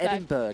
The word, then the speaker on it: Edinburgh: say this don't take edinburgh in the uk you don't pronounce the g it's just it's ten